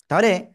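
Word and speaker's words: ت: ওকে, এই তা অক্ষরটা আমরা উচ্চারণ করব জিহ্বার আগা উপরে দুই দাঁতের গোড়ায় লাগাবো, লাগিয়ে আমরা একালিফ টেনে উচ্চারণ করব সিম্পল ভাবে।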